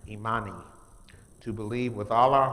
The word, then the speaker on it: Imani: And the last one is a good one for me, which is pronounced Imani, to believe with all our heart in our people, our parents, our teachers, our leaders, and the righteousness of victory and struggle.